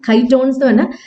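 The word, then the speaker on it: chitons: something called uh kytons i think that is how it's pronounced kai tones these are this is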